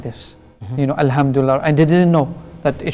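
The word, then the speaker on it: الحمد لله: so they're probably reciting like I'll handle it handle and they should be reciting like a lamb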